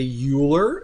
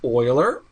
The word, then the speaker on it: Euler: Do not say Euler, it's pronounced Euler.